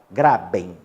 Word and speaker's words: graben: o grei bem né mas vamos lá pronuncia básica graben tá pra você entender